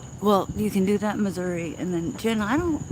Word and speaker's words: Missouri: me state am I saying it right yeah Missouri got to show what's up